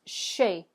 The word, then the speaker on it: chez: or the business of and that word is shape so let's go ahead and say shape good